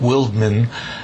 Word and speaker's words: Wildman: edward orange white house his third name was probably pronounced something like wildman but he always styled